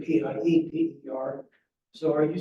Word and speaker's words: Pieper: it was Pieper, but what happened, I mean, the German pronunciation is Pieper, but they changed the spelling because they wanted it pronounced right versus. Oh, yeah. So, because people pronounced it Piper. Okay. Yeah. But the IE would be pronounced Pieper in German and Yeah. probably Piper in English.